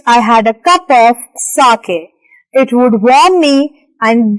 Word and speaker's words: sake: so let's read further s-a-k-e here on the right side a popular Japanese drink sake is a popular Japanese drink sa is pronounced like far in father and K rhymes with